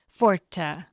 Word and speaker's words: forte: It is spelled with an E at the end in Italian, and in that language, the word has always been pronounced with 2 syllables, forte.